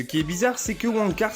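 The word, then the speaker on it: Wang Cars: Mais ce qui est bizarre, c'est que Wong Cars se prononce comme Wankers, signifiant branleur.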